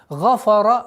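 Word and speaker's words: غَفَرَ: Гафара нет. Фа никогда твердое произношение не будет. И нет в арабском языке, чтобы фа твердо произносилось. Гафара. Гафара нет. Гафара. Твердый, мягкий, твердый.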